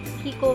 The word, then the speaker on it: Chicco: itong cleansing wip Kiko Kiko pala po ang pronunciation ni Kiko 72 Kik Okay yan Mabango